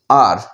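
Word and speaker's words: hour: Half an half आर यहाँ पे दिया है, इसको क्या बोलेंगे, इसको कैसे प्रोनाउंस करेंगे, आर। ठीक है, हावर नहीं बोलेंगे, इसको हावर नहीं बोलेंगे, क्या बोलेंगे, आर।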